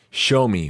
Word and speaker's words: Xiaomi: How to pronounce? Show me. Really? I was way off.